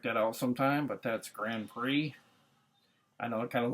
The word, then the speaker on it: Grand Prix: I don't get how they get Grand Prix. I guess because it's like a silent, the X is silent. I don't know if it's like a French name, but pretty cool.